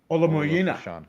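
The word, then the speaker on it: Olumuyiwa: Ola Moyina.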